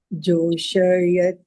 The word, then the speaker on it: जोषयेत्: It looks like the English word yet. Joṣayet. Right? Yeah, it is not pronounced as yet or yet. It is ye. Yet.